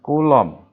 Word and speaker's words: Coulomb: yang ketiga itu adalah gaya gitu ya gaya coulomb tulisannya gimana gini ya oh Kowloon nah ini